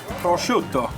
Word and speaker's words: prosciutto: Prosciutto. Prosciutto. They gotta say it like that. It's not prosciutto, it's prosciutto.